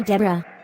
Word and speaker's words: Deborah: name's debbie mrs hastings short for deborah with a silent h right hey lisa how